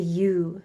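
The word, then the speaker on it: yew: special tree called the U tree. And so it sounds like they're saying you Yo U, but the tree I believe is spelled Y E W.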